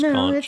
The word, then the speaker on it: conch: Genevieve wants to conchk Aubrey. I probably said that wrong, huh? I never remember how to pronounce conch. It's conch.